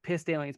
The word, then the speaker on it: Pistalians: spelled like pissed aliens. Yeah, like Pistalians.